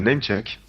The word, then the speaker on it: Namechk: nous, hein, un site qui s'appelle Namecheck. Ça s'écrit NAMECHK.